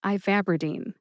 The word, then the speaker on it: ivabradine: Put all 4 syllables together and you get ivabradine. Emphasize VAB. That's that second syllable, VAB. See if you can hear that emphasis when I say it again.